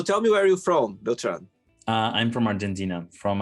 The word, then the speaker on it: Beltran: say your name right Tran uh well if you want to pronounce it correctly in Spanish it's actually Beltran but I give all